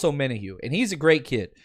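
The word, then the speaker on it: Omenihu: bat but and again the way you pronounce his name is ominohu i see my man doug asking that uh in the chat it's on minahu charles o'mena hugh and he's a great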